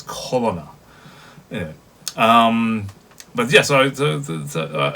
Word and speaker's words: Corona: I know the text, it's written as Corona, as like coronavirus, but of course the way that the Japanese will pronounce it and the way that Tosan pronounces it, it's Colonna.